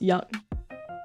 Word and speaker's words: Jung: Jung is pronounced young.